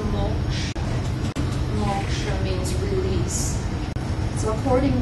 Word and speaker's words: moksha: This is the word that is pronounced "moksha."